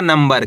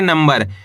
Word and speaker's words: नंबर: नाम अनुस्वार की मात्रा नम ब और आ मिलकर बन जाएगा नंबर। कैसे पढ़ेंगे? नंबर। इसके अंदर अपन आधा म का उच्चारण निकालेंगे।